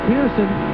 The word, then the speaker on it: Pearson: It'll be 2 to go this time by, and 2 to go, and you said it right, it's Pearson.